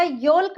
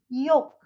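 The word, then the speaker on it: yolk: फोल्क या योल्क नहीं बोलेंगे, हम इसको बोलेंगे फोक, योक।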